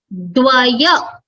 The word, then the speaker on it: Dvaya: Okay, so here the first one is Dvaya, and the second place it is Dvya, the pronunciation. Okay, why is it Dvaya? Because it has the plus the Dakara, Vakara, followed by Akara, followed by again a